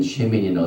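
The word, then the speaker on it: שְׁמִינִי: 썼는데, 그 제목이 되는 쉐미니는 어떻게 되냐면은 신, 쉬 발음이죠. 그 다음에 맴, 그러니까 쉬미, 맴. 그 다음에 요드, 눈, 요. 그래서 쉐미니 제8일에 그 뜻입니다.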